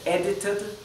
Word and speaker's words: edited: Entre dos vocales, la D a veces se pronuncia como una R suave, como la R española. Por ejemplo, esto podría ser edited, ¿sí?